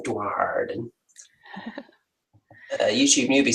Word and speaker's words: Duardin: Yeah, you've got to pronounce the R in the Darden.